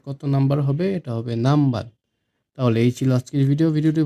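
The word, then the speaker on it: 何番: Number platform, কত হচ্ছে নামবান। এখানেও কিন্তু না ন, নান কিন্তু নয়, ন কিন্তু হবে না, এটা ম হবে। আমি বাংলায় লিখে দিই নামবান, এটা হবে নামবান।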